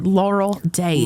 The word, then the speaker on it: laurel dace: The laurel days.